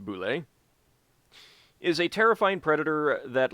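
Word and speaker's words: bulette: called a land shark the boule pronounced boule is a terrifying predator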